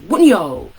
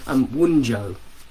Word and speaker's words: Wunjo: and an emoji, and you can also shout Wunyo, which is the rune of joy. It looks like in modern English we would probably pronounce it as Wunjo, would be the way that we would look at it.